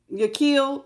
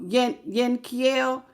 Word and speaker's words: Yankiel: Yakiel? No, it's not. No, Yankiel.